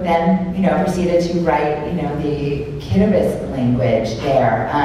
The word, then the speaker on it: Kiribati: proceeded to write, the Kiribati language there. So T-I's are pronounced like an S.